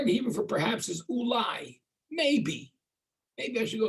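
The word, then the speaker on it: אולי: The word in Hebrew for perhaps is ulai. Maybe. Maybe I should go somewhere else. But the word ulai is spelled Aleph, Vav, Lamed, Yud.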